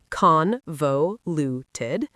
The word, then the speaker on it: convoluted: Convoluted emphasizes the first syllable, convoluted.